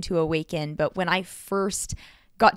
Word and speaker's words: Owaken: breath work group awaken it's not spelled the way you think it is it's spelled o w a k n the reason why I